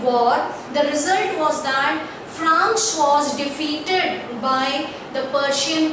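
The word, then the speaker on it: Franz: playing the role of France. So here, though the pronunciation is same as the country France, but the spelling is different.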